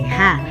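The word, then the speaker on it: ห้า: Sapagkat ang 5, ang pagbigkas sa Thailand ay ha.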